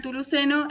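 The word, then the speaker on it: Chthuluceno: Claro, pero esta idea de la CH con la T, ¿no? Que, bueno, por lo menos en las culturas precolombinas, se pronuncia como una T directamente, o sea, no está la Ok.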